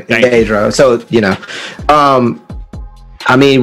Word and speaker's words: Pietro: Real quick, it's Pietro. Like you say his name, Pietro.